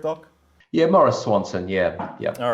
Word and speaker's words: Maurice Swanson: Am I pronouncing that correct, Doc? Yeah, Maurice Swanson.